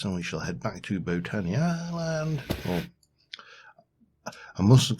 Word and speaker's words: Botania: Yeah, but it's just that way he pronounces Botania, and it's like, it's Botania, it's not Botania. You don't go to a botanical garden.